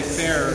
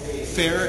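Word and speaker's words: Feher: well it was by an artist named Tony Fair who was who was incredible influence on me spell that Fair f-e-h-e-r Tony Fair okay he's New York artist Google it Google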